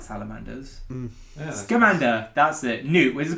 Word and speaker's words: Scamander: Set in the 1920s, it tells the story of Newt Salamander, who is a magical zoologist.